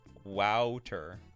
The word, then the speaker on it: Wouter: It's pronounced Wouter.